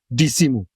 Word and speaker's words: Dissimo: If people say like my name, I pronounce it as Dissimo. You know how many Trinidadian people say Dissimo? Right?